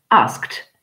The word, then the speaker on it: asked: base vers bâle et alors le dé se prononcent vous avez tout à fait raison te donc ça nous fait asked asked alors ça fait bizarre